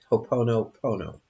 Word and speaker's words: Ho'oponopono: When you could always do a collective Ho'oponopono prayer, Hawaiian prayer, Ho'oponopono. Don't ask me to spell that, but it's spelled just like it sounds.